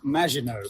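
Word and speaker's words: Maginot: oh for sake it's pronounced majino thank you um he downloaded that from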